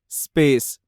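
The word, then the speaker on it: space: है बहुत लोगों की कि जो वर्ड एस से स्टार्ट होते हैं उससे पहले उनके उच्चारण में ई लगा देते हैं, like school, style, स्कोप, स्पेस। ठीक है, तो ई नहीं आना चाहिए, इ से स्टार्ट ना हो, स से स्टार्ट हो, स्पेस।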